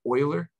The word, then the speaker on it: Euler: this swiss mathematician by the name of leonard euler is how you say his name notice his